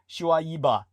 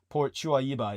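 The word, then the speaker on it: Shuaiba: Shu Aiba. The proper Arabic would be almost every annunciation of every vowel, right? So, Shuiba, Port Shuiba.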